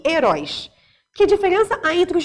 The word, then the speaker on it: herói: Herói é uma oxítona.